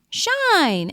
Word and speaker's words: shine: and that same word if you add an e at the end how do you read it it totally changes the sound so it becomes sh shine as in the sun is shining right shine let's look